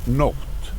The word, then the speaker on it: nótt: Oh, okay, so the O, the accent is an O, a true O.